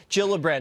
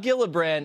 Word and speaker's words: Gillibrand: world right here alright so Kirsten Gillibrand not Gillibrand it's a soft shade now the Minnesota woman